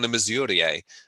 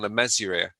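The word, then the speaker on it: Le Mesurier: been i was like i thought it was thought it was john the missouri but uh i someone told me recently it's john le mezuria so i'm like mesuria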